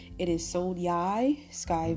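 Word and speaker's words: Sonai: conjection and uh yeah so again how to pronounce her name it is Soni Sky V and Soni is an iteration of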